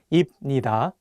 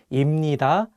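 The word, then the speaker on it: 입니다: pronunciation changes for example if you just read the hunger on their own you might want to say ibnida and hapnida but the correct pronunciations are actually imnida and hamnida the another constant sounds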